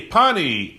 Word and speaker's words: Pani: O nome dele é Pani, eu acho que se pronuncia assim, e vamos conectar com ele agora. Hi, Seth. Hey, Pani, am I pronouncing your name correctly, first of all? That is perfect.